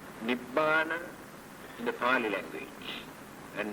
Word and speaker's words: Nibbana: In the Pali language, grammatically, when we join two words, we had to change the letters for our pronunciation. That is why we pronounce this as Nibbana. We never say Nirvana.